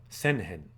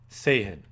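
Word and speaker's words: 政変: uh senen a coup sayen I even said it wrong it's not that common of a word um so say means like government that first kanji say government and then hen means change okay so what they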